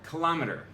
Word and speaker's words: kilometer: Number 4, kilometer. What you thought was kilometer is actually kilometer.